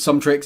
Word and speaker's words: SumTrix: And the reason it's called Sum Tricks is it basically combines Sum from Summit and Tricks and you spell it in a cool way.